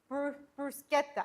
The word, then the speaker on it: bruschetta: It's bruschetta.